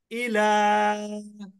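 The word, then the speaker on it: إِلَى: আচ্ছা, তারপরে দেখেন আমানা, আমানা আমানা একসাথে বলবেন আমানা আমানা আমানা ইলা। ইলা এখন অনেকের মনে প্রশ্ন জাগতে পারে যে আমরা ইলা বললাম, শেষে তো আবার আরেকটা ইয়া আছে।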